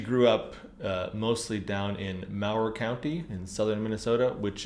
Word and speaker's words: Mower: Mower. Okay. Yeah, it looks like Mower, but it's pronounced Mower. Got I it.